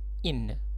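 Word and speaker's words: inn: وآخر كلمة معايا في فندق صغير هي in، بننطقها زي حرف الجر بالظبط، بس هما 2 ان بدل ان واحدة.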